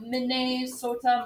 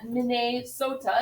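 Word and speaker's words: Mni Sota: state comes from that mine sota it's spelt differently but that's okay it's still the same sounds because back then um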